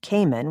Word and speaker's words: Cayman: Their cabbies spoke in a unique draw and pronounced cayman with the emphasis on the men part.